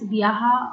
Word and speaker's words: Vyasa: So the term Vyasa is pronounced as Vyaha or Vyah in Assamese language.